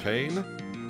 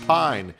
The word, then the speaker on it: Payne: Payne? Or is it pronounced Mr. Pine? No, it's Mr. Payne. It's a pun.